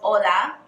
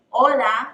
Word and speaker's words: hola: forgot hello how are you so everyone knows hola hola the H is silent in hello and then we have how